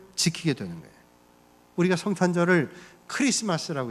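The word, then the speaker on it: Xmas: 이니셜 입니다 그 모양이 대문자로 x 처럼 보이지만 우리가 이를 든 x 마스 라고 이렇게만 되고 크리스마스 라고 읽어야 맞아요 크리스토스 내 쓰니까 크리스마스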